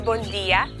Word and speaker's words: Bondia: Good morning is bon dia, good afternoon is bon tardi, and good night is bonochi.